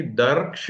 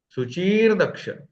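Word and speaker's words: शुचिर्दक्षः: शुचि दर्क्ष नहीं, दर्क्ष नहीं होगा, दर, सुचीर दक्ष।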